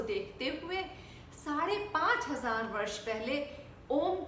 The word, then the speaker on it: ओम: तो एक्चुअली क्या है, हम कैसे प्रोनाउंस करेंगे ओम को। आपने संधि विच्छेद पढ़ा होगा, संधि विच्छेद, उसमें आ उ को मिला के क्या बनता है, ओ। तो ओ शब्द जो है ओम में यूज होता है।